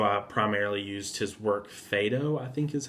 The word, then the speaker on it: Phaedo: So I primarily used his work Phaedo, I think is how you pronounce it. It's Phaedo.